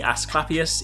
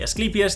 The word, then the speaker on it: Asclepius: Despite the way it looks, it is not the Asclepius, it is the Asclepius.